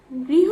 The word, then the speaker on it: গৃহ: এবার আসি ব রিকার ব্রি এবং মূর্ধন্য ষ, তাহলে উচ্চারণটি হবে বৃষ। ব রিকার ব্রি এবং সাথে মূর্ধন্য ষ, বৃষ। এরপর আসি গৃহ, গৃহ বানানটি হবে গ রিকার গ্রি, গ রিকার গ্রি এবং সাথে হ, গৃহ।